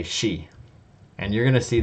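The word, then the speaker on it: し: But you noticed that the E column and the S row produced a shi. Okay, that's because there's no C sound in Japanese.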